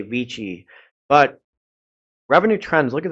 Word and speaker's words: Vici: and in college, and it's actually pronounced wiki in Roman in the Latin language. So, I may accidentally say wiki, and it drives me nuts to say Vici.